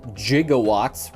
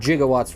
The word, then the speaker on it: gigawatts: plate right there with the 1.21 gigawatts remember that's how you have to pronounce them in the back to the future universe 1.21 gigawatts right there and that's about